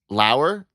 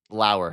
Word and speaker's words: Lauer: Like a flower without the flower. Lauer.